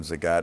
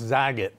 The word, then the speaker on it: Zagat: Nah and Tim Zagat. Really? It's marvelous. You know, it's incredible. You pronounce our name correctly. That's because we're old friends. Well, we can full disclosure. Nobody know. Everybody calls us Zaget.